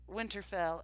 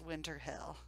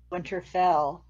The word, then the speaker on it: Winterfell: himself next question who in the episode pronounces Winterfell as winter hill pronounces Winterfell as winter hill I forgot about that